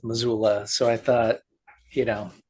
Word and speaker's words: Missoula: So there's that story and then Death Doula rhymes with Missoula.